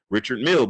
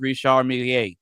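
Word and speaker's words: Richard Mille: Um, but from a price perspective, a lot of people don't know about Richard Mill because the it just it's just economically inaccessible.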